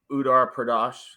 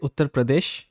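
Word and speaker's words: Uttar Pradesh: pronounce it again uh we call it utar Pradesh it's Pradesh but generally we call it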